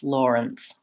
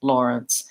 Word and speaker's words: Lawrence: the word law but we don't say it like law when we're saying the word Lawrence we say it more like an or so the first syllable in this word Lawrence is the same as the word lore and we do have